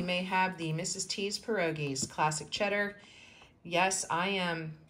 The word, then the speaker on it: pierogi: grew up making homemade pierogies and my gram made homemade pierogies which that is kind of it's even pronouncing it wrong it's actually pierogi but I'm going to